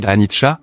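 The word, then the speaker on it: anicca: Anika prononcé Anita est le mot pali pour impermanence.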